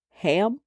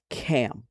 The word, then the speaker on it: Ham: It is known as ham in our society but the word is actually cam.